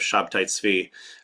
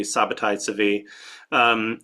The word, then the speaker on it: Shabtai Tzvi: The movement of Shabtai Tzvi. That's how you would pronounce the name in Hebrew. It could also be Sabbatai Tzvi.